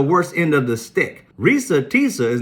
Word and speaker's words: Reesa: and you can't understand that Risa and two e in Risa made a long e and then you around and use a soft e in Tessa and you're the bright